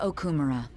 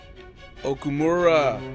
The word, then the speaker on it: Okumura: Kunikazu Okumura. Okumura, not Okumura. Okumura, say it right.